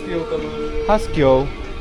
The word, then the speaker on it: husky: Hasky sa to vyslovuje. Hasky. Hasky husky.